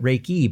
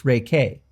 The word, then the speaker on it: Reiki: wrong too haven't I I've called it raiki but it's Reay K yes is it could be my accent who